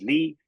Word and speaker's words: Lie: in in in Dutch, you if you want to something to be pronounced as Lee, you add an E.